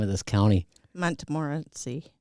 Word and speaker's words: Montmorency: Accessory after the fact to a a hard time pronouncing the name of this county. Montmorency Montmorency. Montmorency.